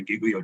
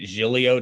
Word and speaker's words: Giglio: with reference to, and I pronounce it Giglio just because I knew somebody with that last name and that's how they pronounced it. Okay. Okay. I don't care. I can call it Giglio if that helps anybody.